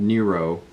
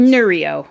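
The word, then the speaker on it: Neurio: We have a whole house energy monitor called Nero. I think that's how you pronounce it. Anyway, and it's Nereo. Nereo. Yeah, I always get it confused.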